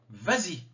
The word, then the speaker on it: vas-y: me vint va manger vas-y ou va à l'école je ne mets pas de s vas-y je rajoute le s pour la prononciation mange mange du chocolat